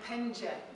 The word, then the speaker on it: Penge: We've not been open that long actually, we're from Penge. Just so I knew I hadn't pronounce got it right.